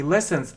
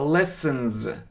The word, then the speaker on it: lessons: Не lessons, а lessons. Lessons. Значит, здесь нужно привыкать именно к звучанию. Это как z.